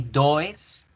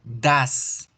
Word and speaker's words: does: En el caso del verbo do no se va a decir ni does, ni dois, ni dous. Se va a pronunciar das, con A, das.